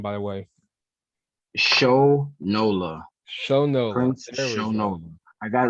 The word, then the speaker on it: Shonola: you say your last name by the way show nola show no no i got a nickname from